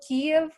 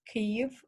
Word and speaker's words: Kyiv: um, so please, and also Kiev, the capital. First of all, it's pronounced Kyiv in Ukrainian, and it's spelled Kyiv.